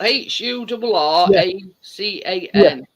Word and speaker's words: Huracan: orur uror it's is it French for Hurricane it's spelled h u r a c a n Huracan yeah but I think it's French for